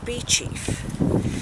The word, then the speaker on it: Beauchief: and because i've got quite a lot so be chief abyss it's spelt beauchief is a medieval monastic house saving the parish uh church in the southern suburbs of sheffield it's pronounced bee chief so the abbey was founded by rotherham fitzranolf